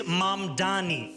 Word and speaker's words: Mamdani: And furthermore, the name is Mamdani, M-A-M-D-A-N-I. You should learn how to say it.